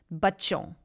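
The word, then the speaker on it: بچوں: So if you download the alphabet chart, you'll see that the C with a caret on top of it is actually pronounced che.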